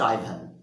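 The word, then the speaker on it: Ivan: এই আইভান Vasilyevich, আইভান term শব্দটি, এই নামটির প্রোনাউন্সিয়েশন তোমরা কোথাও কোথাও ইভানও দেখতে পাবে, তবে সঠিক প্রোনাউন্সিয়েশন হচ্ছে আইভান। ইভানও প্রচলিত রয়েছে, কিন্তু বেশিরভাগই আইভান উচ্চারণ করে এবং আইভানের প্রেফারেন্স দিয়েছে বেশি। Anyway, how ডু ইউ ডু আইভান Vasilyevich?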